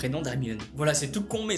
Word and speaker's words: Hermione: Il ne cessait de l’appeler « Herrrrmion ». – Her-mio-ne, dit-elle en articulant lentement et distinctement.